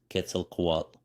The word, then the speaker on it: Quetzalcoatl: age that we live in now quel KOAT pronounced Ketel KOAT or the wind God decided to wander the